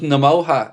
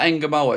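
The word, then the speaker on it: Ngumoha: Uh, G is silent. Rest is similar to Aloha. Yeah, that's what I've been saying. So, it's just Nemoa. It's not Enamoa.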